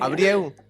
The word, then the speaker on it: Albrieu: ¿cómo lo pronunciaba? Albrieu. Abrieu. Sí, Abrieu.